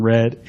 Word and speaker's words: read: So the kids should have been being read a story. Okay, we've got being, that's the passive be, because the verb after it is in the past participle form, pronounced read, not read.